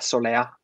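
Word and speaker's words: Soleá: Ja, der hat einen Akzent auf dem A, Soler. Ist es irgendwie andalusisch für Sonne? Soler, ja, genau. Soler.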